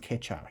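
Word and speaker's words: Keccak: this is pronounced catch up you guys can google this so just google ketchup it says these are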